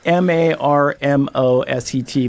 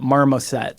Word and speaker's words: Marmoset: It's Marmoset, Marmoset. Like Marmot, but Marmoset.